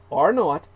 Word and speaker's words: R0: basic reproduction number R uppercase R zero pronounced R not and though useful for